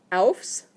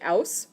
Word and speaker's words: aufs: If you say aus without the F in there, then you're asking to come out of the toilet.